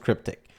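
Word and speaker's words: Crypt1c: mud pack by cryptic Crypt 1C or pronounced cryptic let's create our world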